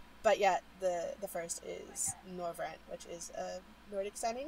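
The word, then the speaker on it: Norvrandt: And the Shard, the first, is also known as, I'm going to probably not pronounce this correctly, Norvrant? Is that Norvrant? Yep, okay. Norvrant, yeah.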